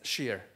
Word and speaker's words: SCER: short for SCC uh we pronounce it as sheer and that happens to be the pronunciation of my last name sheer so uh what is